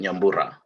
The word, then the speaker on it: Yamura: name just has the you just gotta roll your r a little bit yamura okay um does anyone